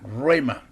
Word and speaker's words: rhema: Roma que es la el se escribe RH e m a rema Qué es el rema